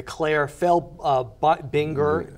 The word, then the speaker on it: Claire Felbinger: And you won, and if I may say, just as we conclude, the Claire Binger, did I say it right?